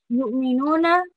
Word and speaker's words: يؤمنون: يؤمنون, Hamza was from the bottom of your throat, so you need to make sure that you have that little jerky sound when you say it.